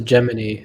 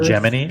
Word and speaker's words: Gemini: You pronounce it Gemini or Gemini? I used to pronounce it Gemini until I started doing a lot of research into it, and they call it Gemini.